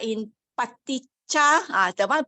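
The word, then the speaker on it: paṭicca: Pali has a very specific, distinct, unique pronunciation. It has been paticha. Paticha. If you see this letter, see, anywhere it has to be long, long all the time.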